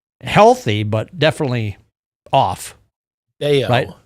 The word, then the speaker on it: Bello: this just a is this a blip or bellow? Healthy, but definitely off. Beo, it's pronounced Bellow. Why did I say Bellow? Brian Bellow in my head. I don't know why. Brian Beao.